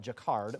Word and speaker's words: Jacquard: It looks like it's spelled Jacquard, but it's Jacquard.